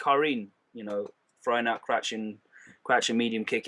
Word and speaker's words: Karin: Yeah, so I'm trying to say Karin. I'm gonna say Karen.